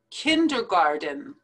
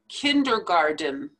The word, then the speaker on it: kindergarten: lawn mower lawn mower kindergarten now this one is a little tricky because we write it with a t here but we actually pronounce it d kindergarten just like the garden